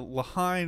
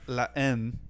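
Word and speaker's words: La Haine: Speaking of different movies, we're talking about movies here, and recently found out that you're not the Lahain is not pronounced Lahain. It's not, yeah. It's La N.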